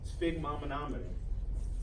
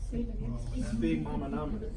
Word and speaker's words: sphygmomanometer: And a sphygmomanometer. Sphygmomanometer. Sphygmomanometer.